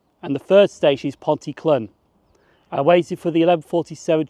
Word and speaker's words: Pontyclun: I thought it was Pontyclun, but it's actually Pontyclun.